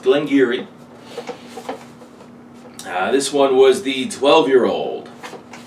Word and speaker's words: Glengarry: It reads like Glen Garioch, but no, it's pronounced Glengarry.